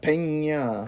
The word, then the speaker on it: Peña: But Jake Gyllenhaal's performance with, is it Michael Peña? Peña. Yeah. It's pronounced Peña.